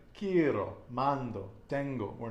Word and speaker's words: quiero: And whenever you have a vowel at the end of the word, the one single stress is going to be On the penultimate the syllable. penultimate syllable. Okay, like quiero, mando, tengo.